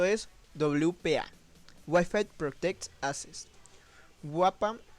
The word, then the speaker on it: WPA: WAPA, mejor pronunciado, fue la respuesta a los principios fallos y vulnerabilidades de la web.